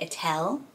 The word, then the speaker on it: Ethel: estonian girl called ethel and they say attel which is so pretty isn't it so it gets pronounced and then beryl is